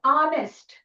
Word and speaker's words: honest: Honest. Honest. H. H is like you know uh it is a consonant but the sound because H is silent we use the O sound.